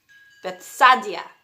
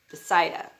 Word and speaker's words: Bethsaida: Philip's hometown was Bethsaida. Okay, that's not how it's said, but it's spelled B-E-T-H, like Beth, and then S-A-I-D-A, Bethsaida.